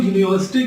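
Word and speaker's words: university: क्योंकि जब हम यूनिवर्सिटी का प्रोनाउंसिएशन करते हैं तो ये य से स्टार्ट होता है, जो क से लेकर के ज्ञ तक के बीच का साउंड है.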